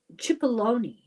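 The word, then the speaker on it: Cipollone: Pat Chipaloney, Chipalone, I think that's how it's pronounced.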